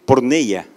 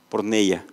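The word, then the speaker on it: πορνεία: está en el idioma griego cierto que dice porn ella así es como se pronuncia porn ella y no habla únicamente de la fornicación o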